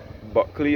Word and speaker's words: Bulkley: Buckley is spelled Bulkley.